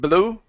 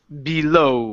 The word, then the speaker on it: below: dinner good job okay this word here is below below below uhuh instead of blue it's below with the stress at